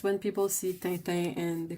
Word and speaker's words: Tintin: How should Tintin be pronounced? Tintin. But that's the hard part, is trying to... That sound, that stupid sound, is really hard to... like, equivocate to anything, so it's really hard to get the right pronunciation of it. But the sound in French is difficult because it comes from the top of the throat.